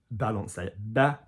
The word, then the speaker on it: balancer: So balancer, balancer. So duck, chest, duck, quarterback, you know, duck, quarterback, duck.